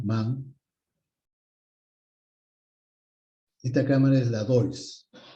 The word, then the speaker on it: Deutz: Esta cámara es la DOIS. Cámara DOIS. Se escribe DEUTZ. D-E-U-T-Z.